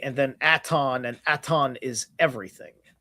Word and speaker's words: Aton: At u uh aton is at I believe it's at o n. Okay. Aton like atonism.